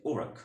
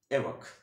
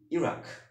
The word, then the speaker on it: Iraq: ওকে, American ইংলিশে এই উচ্চারণটা হবে হচ্ছে ওরাক অর ওরাক। ওকে, উচ্চারণটা সঠিক উচ্চারণটা কি? ওরাক। এবং ব্রিটিশ ইংলিশে সঠিক উচ্চারণটা কি হবে? এরাক, এরাক। কিন্তু সঠিক উচ্চারণ নয় কি? ইরাক, ইরাক।